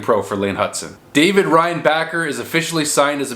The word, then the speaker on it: Reinbacher: Reinbacher is Reinbacher.